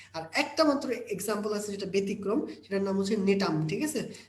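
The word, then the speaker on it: Gnetum: আচ্ছা, আর একটা মাত্র এক্সাম্পল আছে যেটা ব্যতিক্রম, সেটার নাম হচ্ছে নেটাম। ঠিক আছে, জিনেটাম, নেটাম যেটা উচ্চারণ করো, নেটাম মনে রাখো।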